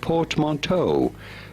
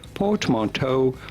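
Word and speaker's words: portmanteau: In English, it is usually said very similarly to French as port monto port monto from port mon.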